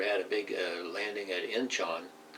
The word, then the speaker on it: Incheon: And then MacArthur had a big landing at Incheon, Incheon, yeah, Incheon, I'm saying it right, which took everybody by surprise.